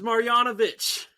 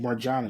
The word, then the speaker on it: Marjanović: It's Marjanović. I put the J in it. Marjanović. Yeah, no, no, you don't pronounce the J.